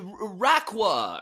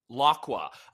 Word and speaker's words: Laqua: I was worried that the episode where they caught Rayquaza and they were like, off to Raqua, or how do you say it? Laqua.